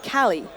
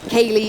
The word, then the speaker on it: KQLY: on the board, and I have been informed KQLY actually pronounced Cali.